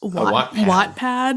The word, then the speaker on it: Wattpad: Wattpad. Like as in the measure of energy? Like no. Or what? Like as in, or whatever. Well, it is spelled W-A-T-T.